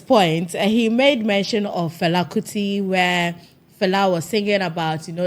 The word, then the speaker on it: Fela Kuti: Fela Kuti, where I actually like how he pronounces Fela Kuti. How do you say it? Fela Kuti, yeah.